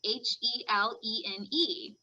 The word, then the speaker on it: Helene: last name the character her name is spelled helen h-e-l-e-n-e well i heard it again on something where the author was talking an interview and it's helene and i'm like ah i just butchered it i thought it